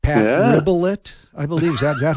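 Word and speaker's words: Rebillot: Ribelet, I believe. Is that how you pronounce his last name? Dave's Was on geeking out on you here, buddy. Ribelow is okay. how he pronounced it.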